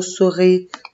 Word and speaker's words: souris: Oui, et dans la deuxième syllabe, il y a la lettre S que je ne prononce pas. Elle est muette.